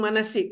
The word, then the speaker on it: Manaseek: nak branding kan branding manasik kenapa Sebab dekat situ tuan-tuan ejaan dia ada sedikit sedikit unik kan m a n a s e e k kalau ikutkan sepatutnya s k kan manasik tapi manasik Kenapa sebab kita nak